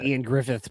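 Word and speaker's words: Ioan Gruffudd: the name I well it's Welsh right so it's not it does not pronounce the way it's spelled yes I think it's like Ian Griffith but it's like spelled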